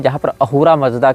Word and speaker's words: अहूरा: अहूर मजदा। अब ये स को ह पढ़ते हैं। फारसी सकार का उच्चारण हकार के रूप में करते हैं। इसीलिए अहूरा को आप असुर भी कह सकते हैं।